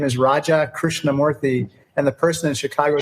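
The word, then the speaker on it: Raja Krishnamoorthi: for sure foreign guest is Congressman Raja Chris namorthy we're a representative from Illinois and the top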